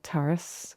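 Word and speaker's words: Turas: And um so I personally believe that that's why Taurus, which is what we called ourselves, which means journey. How do you say it properly? Because I think I said it. Terrace.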